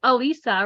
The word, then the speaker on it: Elisa: wrong um but it's Elisa right so I put it with ease so that people got it um but I appreciate